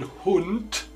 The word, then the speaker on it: Hund: In final position, D sounds like a T, like in Hund, dog, Abend, evening.